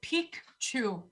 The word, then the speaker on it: Picchu: have to pronounce it pique chew because so it's machu picchu like peak which means old male